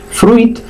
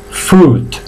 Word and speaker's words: fruit: Bien, lo mismo pasa con la palabra fruta. No digáis fruit porque la I no suena, ¿vale? Se pronuncia fruit. Se alargan un poquito tanto las consonantes como la vocal. Fruit, ¿vale? Fruit, que es fruta.